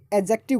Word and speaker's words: adjective: आप इसे एडजेक्टिव कहें न कि एडजेक्टिव, इसमें डी साइलेंट होगा।